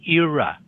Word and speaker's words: era: You have to pronounce the R.